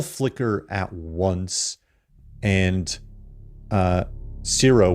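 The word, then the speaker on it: Ciro: And, uh, zero, which is C I R O, just to kind of get that out there. Uh, I know I don't I pronounce it like zero probably.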